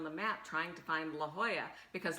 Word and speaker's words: La Jolla: And I'm looking on the map trying to find La Jolla because La Jolla is spelled Lahoya. Uh-huh. You know, like Oscar de la Hoya.